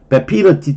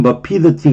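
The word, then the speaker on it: vapidity: 베피더티 또는 버피더티 그러는데 보통은 버지만 이 단어는 베피더티라고도 발음하는데 맛없음이에요.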